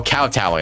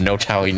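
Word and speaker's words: kowtowing: by cow Towing oh is that how you pronounce oh cow Towing I thought no Towing never mind okay but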